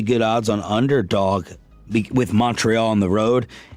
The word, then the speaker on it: Montreal: Oh, he's saying like M-U-N. Yeah, Montreal.